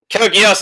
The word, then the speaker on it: Code Geass: Code Geass is Code Geass.